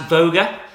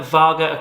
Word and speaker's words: Vaga: to dare to venture or to risk um pronounced voger in Scandinavia but we prefer Vaga across sort of the UK across Europe um